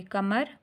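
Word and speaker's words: کمر: अलिफ ठा बैठा, तुझे कमर का दर्द ले बैठा, ते पेश ज बड़ी ये तुझे, काफ ज़बर मीम ज़बर रे कमर, काफ अलिफ का दर्द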